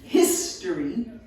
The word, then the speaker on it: history: The accent history is on the first syllable.